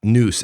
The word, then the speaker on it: nous: no i'm talking about noose as in the way the greeks pronounced it ancient greeks alike with not so